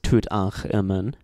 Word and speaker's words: Tutankhamun: The name of the pharaoh Tutankhamun, which literally means living image of Amun, is written as Imen Tutankh, even though it's still pronounced as Tutankhamun, because Imen is the name of a god.